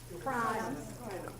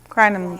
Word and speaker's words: Crinum: Crinum. Crinum. Crinum? Some people say crinum lilies. How do you spell that?